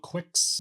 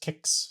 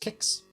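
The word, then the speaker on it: Qix: a new game called Quicks it say he pronounced kicks so obviously it was what Q iix I would say that is Quicks but anyway whatever finally it's pronounced kicks and it says it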